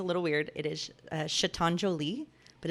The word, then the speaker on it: chatonjolie: instagram name's a little weird it is uh chatonjolie but it's spelled chat on so c-h-a-t-o-n-j-o-l-i-e that's my instagram